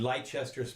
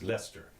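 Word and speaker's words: Leicester: okay just so you know you know and light Chester's pronounce this pronounce Lester or leister Lester or whatever it is it's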